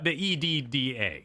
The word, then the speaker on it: Edda: The EDDA. Yes, we're talking about Ida. Yes, but I'm asking, is it a hardy or a softy? Oh. Is it pronounced exactly the same as Ida? It's a softie.